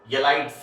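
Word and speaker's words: ylide: While the other thing is name I am writing here, this is the correct pronunciation is येलाइड्स, यील्ड एंड येलाइड्स।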